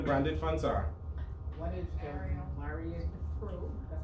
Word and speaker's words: Myriad: What is Marion Pro? That's how you pronounce it. M-Y-R-I-A-D.